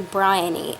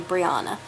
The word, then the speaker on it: Briany: My first name is actually Briany and Bri is my nickname, but this guy cannot understand. He always calls me Briana, which is one of